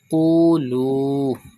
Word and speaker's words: قولوا: Look at the word Qulu. Pronounce Qaf with thicker voice. Stretch Waw Madda.